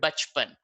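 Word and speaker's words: बचपन: You don't say bacha pana. You will say bach pan.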